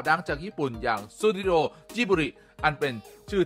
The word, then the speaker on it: Ghibli: ของ ญี่ปุ่น ส่วน ที่ ทำไม ถึง ออก เสียง ว่า จิบิ ไม่ เป็น กิบลี่ ตาม เสียง แบบ ภาษา อารบิก นั่น ก็ เพราะ เขา อ่าน ตาม ตัว สะกด แบบ ภาษา ญี่ปุ่น นั่น เอง แน่ นอน ว่า สำหรับ